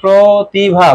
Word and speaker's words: প্রতিভা: এর উচ্চারণ আসতে পারে আর প্রতিভা এর উচ্চারণ হবে প্রতিভা প্রো হবে কি হবে শুরুতে প্রো হবে সমত্ব এটা কিন্তু তোমাদের